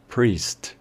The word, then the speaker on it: priest: a cómo se escribe, únicamente teniendo en cuenta que la E de en medio sonaría también como una I. Priest, priest, como si el sonido de la I se extendiera.